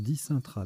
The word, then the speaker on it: dicentra: Dicentra. Ce n'est pas un verbe. Hein. Ça se prononce dicintra d'ailleurs.